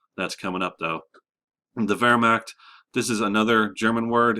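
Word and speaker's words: Wehrmacht: coming up though the Vera this is another German word in German you pronounce W's like V's because they're uh that's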